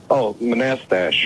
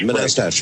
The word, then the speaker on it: Manastash: How do you pronounce the name of your town, Manastash? Manastash. Manastash.